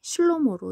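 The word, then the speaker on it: שלמה: 있습니다 왜냐하면 이게 지금 히브리어 발음으로 솔로몬 왕이 슬로모로 이렇게 발음 되기 때문입니다 그런데 그 방금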